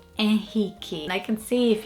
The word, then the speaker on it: Henrique: I think in English pronunciation, I'd probably say Henrique or Enrique, like Enrique Iglesias, but it's not Enrique. In Portuguese, we would say Henrique.